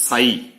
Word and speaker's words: psi: ई for energy, we mean potential energy and this साई, पी एस आई, P silent है, साई ये describe कर रहा है एम्पलीट्यूड.